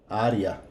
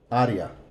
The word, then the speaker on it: área: De, and this is going to be área. Área. Código de área. Remember that this is always going to be an A.